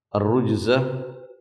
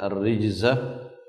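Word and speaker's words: الرِّجْز: Ar-rujza, sebagian di antara ahli qiraah membacanya ar-rijza, ini maknanya adalah berhala-berhala.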